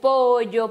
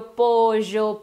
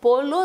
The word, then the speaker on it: pollo: Temos pollo, que pode ser pollo, pojo, pocho, pollo. Depende o país, depende a pronúncia. Qualquer uma dessas que tu tenhas feito está certa. Só não polo, polo não. Pollo, tipo um LH do português, tem região da Espanha que até faz.